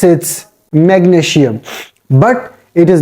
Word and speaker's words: magnesium: You don't have to pronounce, you don't have to make the sound of SI like sh, sh. Here you have to pronounce it magnesium. Magnesium. Change the sound of S with Z.